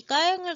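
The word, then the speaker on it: ແຄນ: 한국어로 쓸 때는 이 까eng을 갖다가 캔이라고 쓰더라고요. 그래서 네이버에서는 라오족의 캔 연주 음악 이렇게 쳐서 이제 네이버 백과사전에 나오는데 제가 알기로는 까eng으로 읽는 것 같아요.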